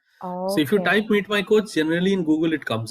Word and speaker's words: Meetmy.coach: Meetmy.coach or Meet.my.coach? Yeah, Meetmy.coach. You can also say Meet.my.coach, not a problem.